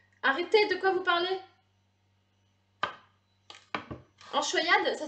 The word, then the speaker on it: anchoïade: Enchoyade, ça s'écrit A-N-C-H-O-I-A-D-E.